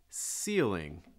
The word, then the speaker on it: ceiling: repeat um up top ceiling ceiling a quick note on that so the eel see that long vowel sound the eel eel so it's gonna break into two parts seal ceiling ceiling next one light fixture